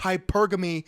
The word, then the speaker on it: hypergamy: If you're going to be giving us a TED Talk on how the female brain operates and thinks, at least pronounce words correctly. It's hypergamy, you dumb, dense cinder block.